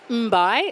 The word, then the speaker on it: Mbai: I'm Jasmine, and that unusual surname is pronounced Mbai, like tasty and then bye.